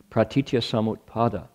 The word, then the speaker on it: Pratityasamutpada: Pratityasamutpada. 7 syllables.